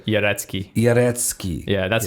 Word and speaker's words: Jarecki: I would say Jarecki.